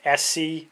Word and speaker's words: ESEE: But now that the Junglas is out by ESEE, pronounced SC as I believe, spelled ESEE, and again, it's sort